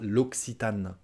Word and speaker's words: L'Occitane: qui tend en anglais elle est à 2 prononciation l'aquitaine l'occitane l'occitane ok alors on la version française ce sera l'occitane donc les les les